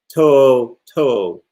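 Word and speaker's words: To'o To'o: how to pronounce them toe toe tio apostrophe o t o apostrophe o so he's a tremendous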